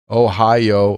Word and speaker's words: Ohio: Ohio I had a coworker who pronounced Ohio like a yo-yo oh yoyo yoyo whatever